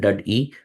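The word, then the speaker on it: DUD-E: So dud dud or it is pronounced dud e uh is derived from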